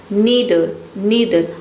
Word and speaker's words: neither: दोनों में से कोई नहीं, नीदर, अब इसे ईदर को आइदर भी पढ़ते हैं और नीदर को नाइदर भी पढ़ते हैं, दोनों प्रोनाउंसिएशन सही है।